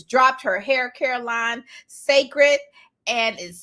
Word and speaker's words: Cécred: pronounced twig so twig just spelled different just like sacred is uh interestingly enough she wrote the first image is the newly launched sacred the Hair Care brand